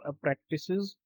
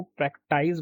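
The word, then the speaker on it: practice: लोग जो है ना, इसकी करेक्ट प्रोनाउंसिएशन है प्रैक्टिस। कुछ लोग क्या करते हैं कि इसको प्रैक्टाइज बोलते हैं। अगर मतलब इस एस की जगह सी होगा तो वो सोचते हैं कि अगर सी होगा तो इट विल बिकम प्रैक्टिस और अगर एस होगा तो इट विल बिकम प्रैक्टाइज, जबकि ऐसा है नहीं। इसको भी हम प्रैक्टिस, बस थोड़ा सा फर्क है दोनों के प्रोनाउंसिएशन में, प्रैक्टिस और प्रैक्टिस। प्रैक्टिस, प्रैक्टिस इसको बोलेंगे प्रैक्टिस।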